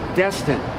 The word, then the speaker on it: Destin: Okay, it's Destin. You know, it's Destin. Destin. You got it.